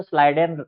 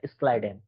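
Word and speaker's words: Schleiden: लोग देखो हिंदी के किताब में देखोगे तो स्लाइडन रहता है लिखा। लोग जनरली स्लाइडन स्लाइडन बोलते हैं। लेकिन अगर आपको प्रोनाउंस करना है तो प्रोनाउंसिएशन जो होता है स्लाइडन कहा जाता है। स्क्लाइडन ठीक है?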